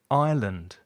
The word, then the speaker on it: island: with a silent b ireland with a silent s foreign with a strange spelling and subtle repeat with me debt island foreign subtle and another